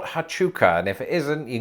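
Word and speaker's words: Huachuca: like in saurita so if things are consistent that first u is redundant so i think it's pronounced fort hatchuka and if it isn't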